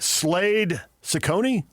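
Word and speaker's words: Slade Cecconi: Slade Ciccone? Yes. Is that how you pronounce it?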